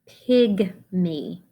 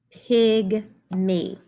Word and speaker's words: pygmy: Number 4, pygmy. Pygmy. H. Ig. M. E. Now this has got the Y saying E.